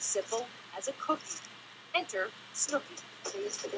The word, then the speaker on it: Snooki: Isn't it cute that Snooki rhymes with cookie?